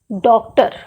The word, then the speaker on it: डॉक्टर: जैसे स्वर लगा करके, जैसे डॉक्टर, डॉक्टर यानी ओ और आ के बीच इसका उच्चारण होता है, उच्चारण स्थान बदल जाता है।